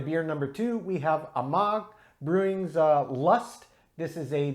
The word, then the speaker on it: Amager: Worth noting, Amager is the pronunciation of the brewer, though it's spelled A-M-A-G-E-R. So there are essentially dropped silent sounds on the end of the spelling, just if you care.